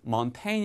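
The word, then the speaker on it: Montaigne: 거냐 아기 좀 애매 하죠 근데 약간 지가 묵음 이라고 보시면 되요 뭔 테일 먼 테인 이라고 이 있습니다 영어로는 양대 몽테뉴 남아 프랑스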